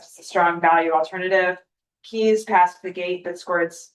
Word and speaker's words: KEES: Based on the completed scorecards, so there were 5 firms: DSG Koya, Maneva Group, KEES, I'm pronouncing Keys, Stanton Chase, and Harvest Educational Consulting Group, or I'm gonna call Harvest.